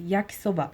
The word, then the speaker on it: 焼きそば: How to pronounce it there's a quiet little know "yakissoba". There will be no different intonation in the sounding of the word. You speak it at once.